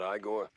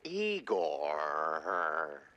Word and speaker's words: Igor: Igor? Not Igore? No. Eigore.